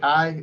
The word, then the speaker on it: chi: Is it chi? Is that how you pronounce it? Chi. Am I right? Yeah, key.